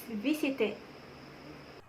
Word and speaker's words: visited: yesterday the answer is visited correct the right pronunciation of the past and form for the verb visit is visited verbs that end in